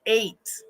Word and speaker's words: eight: them no no no in the word eight we hear a long a it's an a vowel